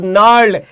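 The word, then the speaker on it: gnarled: यहां जी साइलेंट है, ध्यान रखिएगा, यहां पे जी साइलेंट है। इट इज नॉट नर्ल्ड, इट इज नर्ल्ड। एन से इसका प्रोनाउंसिएशन होगा, ध्यान रखिएगा, इसका प्रोनाउंसिएशन जी से नहीं होगा।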